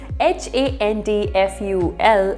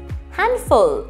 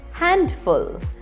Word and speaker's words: handful: having hand in it this is the third word that begins with hand and yet it does not have a d sound h-a-n-d-f-u-l is also read as handful it is not read as handful pronounce it as handful